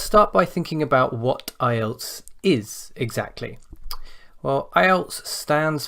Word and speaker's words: IELTS: together to create ielts notice it is not islets and never has been islets so don't pronounce it like that or write it like